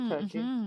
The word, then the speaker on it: Circe: And also you've got Circe to an extent, or Turkey, depending on your pronunciation.